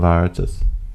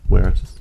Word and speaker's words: Veritas: The V is pronounced with a W sound in Latin.